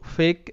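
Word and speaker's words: fake: তো এখানে ফার্স্ট শব্দটার উচ্চারণ কিন্তু ফেক, এখানে এফ তে ফ, আর এ এ এর লং সাউন্ড এ হবে এ, তো এতে হয় এ কার, তাহলে ফ এ কারে ফে, আর কে এর জন্য ক, ফেক। আর শব্দের শেষে তো ই সাইলেন্ট থাকে যদি সেই শব্দটিতে আরও অন্য কোনো ভাওয়েল লেটার থাকে, এটা তোমরা জানো। সো এটা ফেক।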